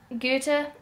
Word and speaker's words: Goethe: I hate saying it just because it's spelled differently than I felt it should be, and said, oh fuck, I mean it's said differently than it looks in German.